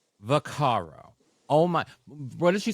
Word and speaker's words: Vaccaro: Brenda varo can I I'm G to say what everyone should be saying how you should say her name this is how you should say her name Brenda vakaro Brenda vakaro oh my what did